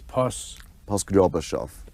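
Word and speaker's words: Poskrebyshev: I really can't pronounce that name. It's Poskryobashov.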